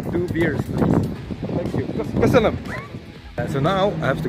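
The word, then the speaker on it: Köszönöm: Kösönöm. Kösönöm. Hello, hello. So I just learned a very important phrase, which is két sör kérek, which means two beers, please. Thank you. Kösönöm.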